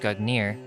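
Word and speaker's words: Gungnir: the past Nordic gugnir Old Norse gugner swaying pronounced gugnir is the name of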